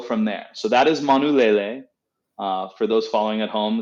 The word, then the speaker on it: Manulele: um and go from there so that is manulele for those following at home it's spelled m-a-n-u-l-e-l-e and the the iteration that we're trying today was harvested in july of 2019.